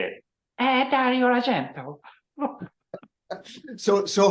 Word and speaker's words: Argento: it that's the right way to say it agento so so how exactly did the do do